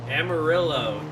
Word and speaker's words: Amarillo: Amarillo. It's the American pronunciation. Amarillo. Amarillo. Amaro. No, that's not American. You're doing the Y for the double L's.